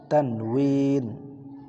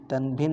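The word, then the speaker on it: تنوين: তানউইন। তানভিন হলো বাংলায় বলে, আরবিতে তানউইন।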